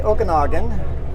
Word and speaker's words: Okanagan: headed back to the Okanagan in Washington Okanogan okay I can't say it we say Okanagan us they say Okanogan there we go got it that time we see we say with an a they say with an